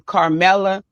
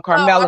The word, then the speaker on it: Carmelo: keep the focus on Carmelo. I want to be clear to say his name, right? Cuz Carmelo, my bad, Carmelo. I don't know why I was saying that, but Carmelo, this is bigger than Carmelo.